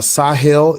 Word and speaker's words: Sahel: Do you know what uh Sahel is? I'm from the Sahel. Right. So is that how you pronounce that word? I I can't pronounce it right. Yeah, that's correct.